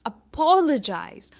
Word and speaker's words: apologize: सबसे पहला है apologize, apologize। पॉ पर इसका स्ट्रेस है, पॉ हम जोर से बोलते हैं, apologize।